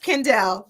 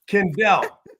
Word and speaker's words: Kendell: learn a little bit about yes and it's pronounced kendel yep Kendell okay Kendell iiz coach I'm so excited I had you back though did I did I get that right kendelle yes okay so it perfect perfect perfect so